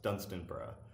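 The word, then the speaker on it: Dunstanburgh: another ruined castle called Dunstan bruh which is not spelled like it sounds it's d u n st a and B you are th pronounced Dunstan bruh just like Edinburgh a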